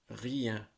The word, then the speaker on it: rien: Bien, politicien, barbadien, lien, mien, algérien, algérien, rien. Right? So you can hear the EIN, right? When each word is pronounced.